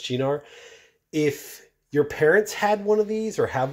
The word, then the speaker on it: Cynar: say it was this it was ginar it's pronounced chinar if your parents had